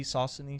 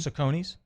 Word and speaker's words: Saucony: How do you say the name, the shoes, the S-A-U-C, Saucony? Saucony? Sauconys? I used to say Saucony as a kid, but I think I've always heard people say Saucony.